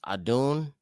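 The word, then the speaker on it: אדון: In the Obari, it's pronounced Adun, Adunim.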